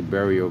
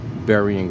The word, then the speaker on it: Burying: burial Brown Bearing ground some say Berry and ground some say burial ground this is burying ground right here I'm gonna